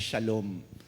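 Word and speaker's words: שלום: Pero ang binigyan diin natin dito, yung salitang Hebreo na ang ibig sabihin ay, o kung bigkasin ay shalom.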